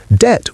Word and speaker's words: debt: Debt with a silent B inserted by scholars trying to make it look more Latin.